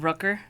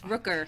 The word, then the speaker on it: Rooker: You kept calling him. Rucker. It's Rooker.